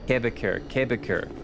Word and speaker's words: Quebecor: Don't need to pronounce the que of que, you just pronounce it Quebec. Quebecor.